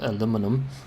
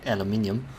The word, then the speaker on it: aluminum: Yeah, I should also remember the spelling of aluminum, because I always say it like aluminium, which is pretty German.